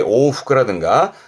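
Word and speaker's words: 往復: 발음은 카이후크, 카이후크. 이것 말고도 왕복의 오후크라든가 자기가 외운 단어로 꼭 정리해 두세요.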